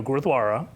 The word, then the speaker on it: Gurdwara: - All right, you have to promise me to help me pronounce what you just said. - Gurdwara.